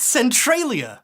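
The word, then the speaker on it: Centralia: It's actually pronounced Centriia.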